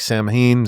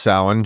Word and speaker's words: Samhain: So when you read this, it looks like Samhain, but it's not. But it's pronounced Samhain.